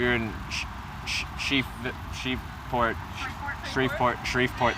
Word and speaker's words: Shreveport: in sheep sheep shreveport sharif port that's the one everyone keeps reminding me how to say it and i keep